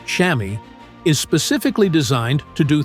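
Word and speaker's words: chamois: The pad inside, called a shamwa, pronounced shammy, is specifically designed to do three things.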